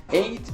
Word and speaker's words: eight: do you pronounce it's like eight is pronounced like night is that right correct no that's wrong that's right it's like wait eight wait how do spell apple